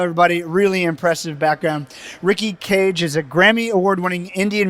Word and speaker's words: Kej: the right way uh so the right way is how you would say how we pronounce a bird cage c-a-g-e just like how you would say nicholas cage okay good deal uh